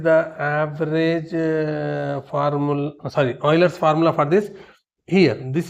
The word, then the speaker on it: Euler: Oiler's formula right Oiler's formula for a polyhedron. This is not Euler's formula. See in the it is colorly given. It is pronounced as oiler.